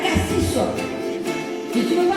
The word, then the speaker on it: Cassis: route qui mène à Cassis. Et tu ne veux pas passer pour un parigot, hein? Tu dois bien prononcer le S de Cassis. Comme le font encore les provençaux. Cassis, comme le pastis.